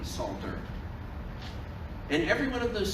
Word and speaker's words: Psalter: Again, with a silent P, Psalter.